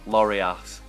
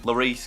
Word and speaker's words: Lloris: Lloris or as I used to call him Lori ass I could not pronounce names that was back in school and